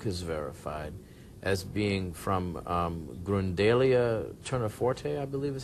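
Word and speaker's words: Gundelia tournefortii: Now there was I was reading that there's a pollen on the shroud that Yuri Baruch has verified as being from Grundalia turniforte, I believe is how you say it.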